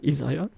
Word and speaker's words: Isaïe: Il a fait recours au prophète Isaïe, je prononce son nom bien en français, Isaïe.